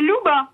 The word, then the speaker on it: Luba: Luba est au téléphone, ou Luba, je ne sais pas comment je dois prononcer. Bonjour Luba. Bonjour, c'est Louba. Louba, parfait.